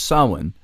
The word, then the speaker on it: Samhain: really reclaim their Yule from Christmas or their saw one from Halloween and saw one by the way you've seen the word probably it's spelt funny it's sa m h AI ends pronounced Sawin from Halloween and it's nonetheless a really worthwhile